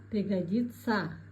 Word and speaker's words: пригодиться: Произносим правильно пишется стараться произносим стараца пишется учиться говорим утица пригодиться пригодится акян казахстан мухит полезный пайдала Теперь отвечаем на вопрос: что сказал поэт?